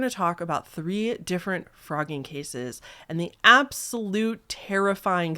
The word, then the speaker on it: Phrogging: we are talking about frogging yes it's pronounced frogging like the animal frog except it is spelled with a pH not an F recently I asked you